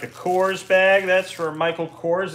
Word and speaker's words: Michael Kors: coors bag that's for michael kors is that how you say it yeah that's right i know handbags actually